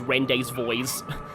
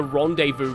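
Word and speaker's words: rendezvous: the non subtitled dialogue I always always used to think rendevu was was like pronounced rend's voice the first time I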